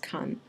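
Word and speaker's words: 完: And then the right-hand side is actually pronounced kan.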